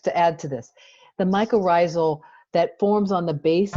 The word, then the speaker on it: mycorrhizal: Justine, can you pronounce that for me? I know she'll help me. Come on, somebody help me. Mycorrhizal. Mycorrhizal.